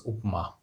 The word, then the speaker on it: upma: But it is there in the dictionary, and it is pronounced as upma or upumavu.